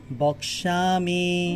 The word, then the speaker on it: বক্ষ্যামি: ক্ষীয় থাকলে ক যোগ মূর্ধন্য ষ, যার কারণে প্রথমে কর উচ্চারণ হবে, তারপর মূর্ধন্য ষ। তাহলে বলে বক শ্যামি, শ্যামি, জফলা আছে, আকার আছে, তাহলে শ্যামি।